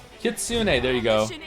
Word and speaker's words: Kitsune: Kitsune. There you go. Mission isn't over yet. Oh I said it right. Kitsoon.